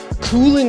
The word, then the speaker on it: Couling: Cooling is my last name. C-O-U-L-I-N-G. It's pronounced cooling. Like cool.